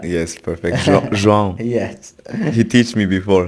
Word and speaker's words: João: João. Yes. He teach me before how to say it. Yeah. João.